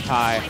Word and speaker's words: Tae: Do you know Tay by any chance? You don't know how to pronounce this tag? I'm pretty sure it's Tay.